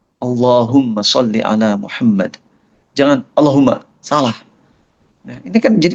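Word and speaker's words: اللهم: Apakah Allahumma la-nya di situ harus dua harokat? Betul, harus dua. Allahumma. Kalau bacanya Allahumma, batal tuh. Pastikan Allahumma. Allahumma sholli ala Muhammad. Jangan Allahumma, salah.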